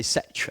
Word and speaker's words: sech: I prefer the Scheck squared Scheck pronunciation. Some of you were going to say Sech, I suspect. I was taught to put the H early on, if ever you could, in the word.